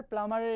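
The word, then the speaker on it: plumber: 23 নম্বরে প্লামার, এই প্লাম্বার, প্লামারের এখানে প্লাম্বার, এখানে বি সাউন্ড লেটারটা যখন উচ্চারণ করা হবে তখন হবে না। Here is the right answer is প্লামার, বি।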